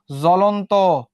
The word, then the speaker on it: জ্বলন্ত: জ্বলন্ত, তাহলে কি ব উচ্চারিত হবে? হবে না। জ, লন, ত।